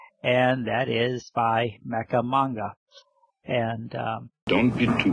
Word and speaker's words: manga: other people know the MinGa so I it's pronounced manga you noob okay hey for what it's worth